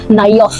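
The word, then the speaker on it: Naioth: In case you're unable to pronounce it, in case it's Nayoth.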